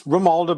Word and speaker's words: Romualdo: But Romualdo, did I pronounce that correct? It's Romualdo, but you can call me.